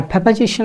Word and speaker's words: preposition: Firstly বলে রাখি, প্রেপোজিশনের উচ্চারণটা আপনি একটু যদি ঠিক করা যায় তাহলে ভালো হয়। ইটস নেভার প্রিপোজিশন, অনেকে প্রিপোজিশন বলেন, এটা প্রিপোজিশন না, ইটস প্রেপোজিশন।